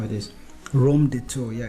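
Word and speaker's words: Raumdeuter: have the rom detour i always struggled to pronounce this thing let me just see how it is rome de tour yeah it's the german for space investigator the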